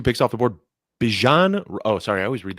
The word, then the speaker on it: Bijan: We've all been mispronouncing his name. It is Bijan Robinson, not Bijan.